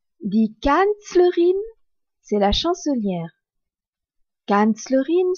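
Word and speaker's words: Kanzlerin: K a n Z l e r dit canlerine c'est la chancelière canlerine s'écrit K a n Z l e r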